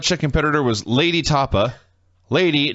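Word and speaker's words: Lei'D: competitor was lady tapa lady not l-a-d-y l-e-i apostrophe d lady that actually made me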